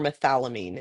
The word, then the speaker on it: methylamine: we end up with methyl Amin or methylamine is how how it's pronounced and then we have